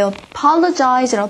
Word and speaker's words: apologize: 일단 강세를 이음절에 찍으시고 발음이 apologize가 아니라 I apologize라고 발음하셔야 돼요.